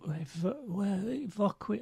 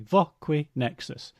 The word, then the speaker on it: Voquinexus: And so I'll give them the card and they'll go, Voqui, and I say Voquinexus.